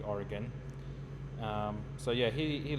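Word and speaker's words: Origen: one is Oregon or origin there's different ways people pronounce it but it would most likely would be Oregon um so yeah he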